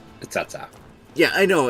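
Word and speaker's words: Cao Cao: Well, Dynasty Warriors 3, they actually pronounced it Cacao. But later on in later iterations, they found out that they were pronouncing it wrong, so then they decided to correct themselves, and it's now Tsatsa.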